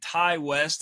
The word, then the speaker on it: Ti West: Cole and Pearl, which is a Ty West, I think is how you say his name.